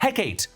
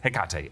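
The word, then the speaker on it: Hecate: meet the witch goddess heate or heate all different ways to pronounce it but it's heate actually Wanda does this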